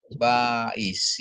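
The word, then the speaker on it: בַּיִת: Bed dikasih patah jadi Ba ya. Terus ini Alep, ini silent dikasih hirik yod jadi I ya. Terus ini ada Shin ya. Bais. Jadi bacanya Bais ya.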